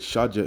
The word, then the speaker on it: Shaddai: It says Sadeh, but it was Shadja. Okay, you pronounce it Shadja in the Hebrew.